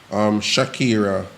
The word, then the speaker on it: Shakira: Shakira, if me I pronounce the name correctly. You're pronouncing it right. Eh? Yeah, pronounce it right.